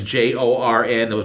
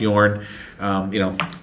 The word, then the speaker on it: Jorn: It's Jorn, but it's pronounced Yorn. European pronunciation, how they jogging or do things there.